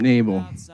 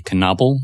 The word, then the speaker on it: Knable: the jidor naal with welcome to the podcast thank you I'm happy to be here you have a K in your name but it's silent it's always been silent